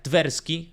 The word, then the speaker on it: Tversky: Tanto Daniel Kahneman como Tversky, que no me acuerdo cómo se escribe, pero sé que se pronuncia Tversky, tuvieron y dieron origen,